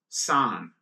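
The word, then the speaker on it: さん: 23 is significant because in Japanese language, the number 2 is called ni, or pronounced ni, and the number 3 is pronounced san.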